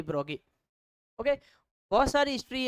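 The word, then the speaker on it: Broglie: France named Louis de ब्रोगली। Louis de ब्रोगली, ब्रोगी होता है actually, okay. French में इसका प्रोनाउंसिएशन लुई डी ब्रोगी, ओके।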